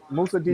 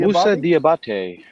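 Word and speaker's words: Musa Diabaté: Pronounce Musa's name for us. Musa Diabate. Musa Diabate.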